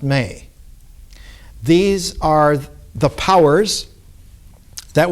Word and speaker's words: me: And what she acquires, the Sumerian word for it is spelled M-E, but it's pronounced May.